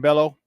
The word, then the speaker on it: Bello: he's going against uh Brian Bale Brian Bello but I am bail is his name if you're not pronounced it in Spanish uh he's six and